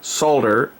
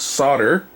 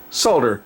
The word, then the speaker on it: solder: it like an American I speak it with the L pronounced which is the correct way if you look it